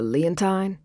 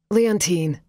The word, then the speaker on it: Leontine: talk to a letine he pronounced it to rhyme with Valentine as if he hadn't paid any attention to the way the woman on the phone must have pronounced it leontine Leo automatically corrected um yeah I think